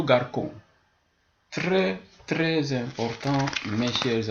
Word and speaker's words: garçon: c'est sur le C lorsque c est suivi de a de ou de U voilà par exemple garçon si j'enlève la cédille sur le C je ne dirais plus garçon mais plutôt garçon très très important mes